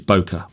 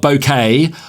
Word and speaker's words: bokeh: my understanding is that the way that the Japanese would pronounce it is bokeh okay and it's not bokeh or you know any